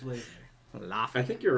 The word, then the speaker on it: Laufey: Laufey. I think you're right because she's like Icelandic. It's like Yeah. the same thing as like Bjork, or you say her Yeah. name. But Okay, yeah, cool. No, Laufey.